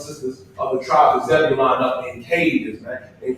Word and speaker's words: Zebulon: And that's how you pronounce it. Zebulon, Zebulon.